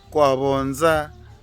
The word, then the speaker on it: Kwa Vonza: Yeah, that's how they pronounce it. Kwa Vonza.